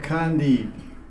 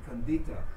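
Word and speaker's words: Khandita: Otherwise we don't hear the T at the end. Kandita. Yeah, it's a long A there, yeah. Kandita. In India, many people talk to me, but they say Kandi.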